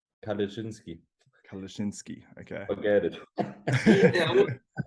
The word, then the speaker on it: Kalecinski: So did I pronounce the first and second name wrong? Kalecinski.